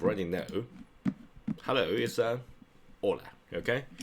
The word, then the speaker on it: hola: Hello is a hola. Okay. The edge do not pronounce have any pronunciation. So just don't pronounce make any sound we pronounce edge.